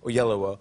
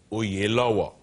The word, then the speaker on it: Oyelowo: Oprah was on last week, and she told me how to say it because we said Oyelowo. Yeah. But it really is Oyelowo, which is so hypocritical